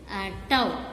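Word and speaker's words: τ: ஸோ we have to right tau. This letter is denoted. How to pronounce tau?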